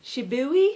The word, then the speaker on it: Shibui: And this is Shibui. I just found out this weekend at the retreat that this is pronounced Shibui, I think.